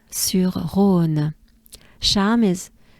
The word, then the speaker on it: Charme: It's called Charme sur Rhône. Charme is, it's charms, but in a way, charming, right? But it's pronounced charme.